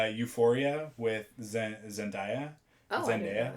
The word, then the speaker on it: Zendaya: Zendaya, I think it's pronounced Zendaya. Everybody says Zendaya, but it's supposed to be Zendaya.